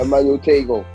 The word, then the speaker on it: Emmanuel Tagoe: Yeah, Emmanuel Tagoe, Game Boy.